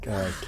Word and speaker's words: Kihek: Also, I asked my friend Jaewon how to pronounce that name because I was worried about how bad I'd been saying it. He was like, okay, no, he's like, Kihek.